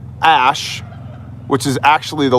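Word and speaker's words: Æ: I do believe his most recent child was named X Ash A12, and the reasoning behind this was X is the unknown variable in both, math and science. And Ash, which is spelled A-E, is actually Elven, like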